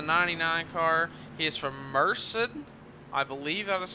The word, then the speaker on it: Merced: He is from Merced.